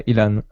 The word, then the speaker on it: Ilan: Is it pronounced Ilan? Yeah, Ilan. So I'm Ilan.